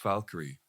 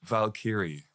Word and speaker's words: Valkyrie: just make up words oh yeah like like Valkyrie for instance it's pronounced Valkyrie it's not pronounced Valkyrie right or I was watching I remember I